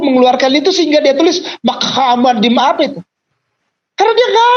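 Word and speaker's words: מחמדים: Itu bahasa Ibraninya saya urut dari kanan ke kiri, hurufnya adalah mem het, mem dalet, yot, im. Mem. Jadi bacanya Muhammadim.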